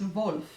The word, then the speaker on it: Wolff: to mention that uh in Polish just like in German we pronounce W's as V's so it's yeah like my name it's wolf not wolf and C that it's